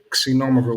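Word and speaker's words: Xinomavro: it's not pronounced z number it's but not pronounced c like ks synonymous wine that is probably the most uh prominent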